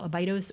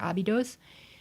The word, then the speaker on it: Abydos: of the site that we call a bi toes or Abydos in Egyptian as abdu and it's spelled with